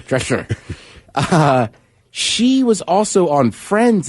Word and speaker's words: Drescher: I cannot say her name. Drescher. Yeah. Back in the day. Picture Lou Holtz trying to say his dresser. Right, Drescher.